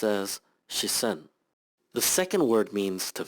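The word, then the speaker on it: 視線: is a noun that means gaze and is pronounced as shisen the second word means to feel and is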